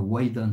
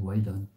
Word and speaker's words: Waidan: Il était dans le Waidan, ça s'écrit W-A-I, deux points, D-A-N, Waidan.